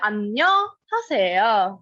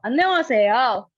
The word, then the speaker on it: 안녕하세요: But you won't pronounce it. You'll say 안녕하세요, 이렇게. All right? So one more time, this time with a bow, 이렇게. So 안녕하세요.